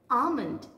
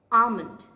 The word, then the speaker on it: almond: say this word is almond l is silent here what is the way to say almond what is the correct pronunciation almond very good the next